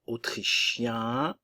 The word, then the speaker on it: autrichien: de la nationalité masculin autrichien autrichien attention le un nasal et autrichienne ok ici le son et avec les deux n qu'on a de et le E ne se prononce pas autrichienne autrichien autrichienne la Belgique le E